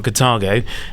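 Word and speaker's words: Carthago: It's interesting that you've picked on Cartago, and well pronounced there, Keith.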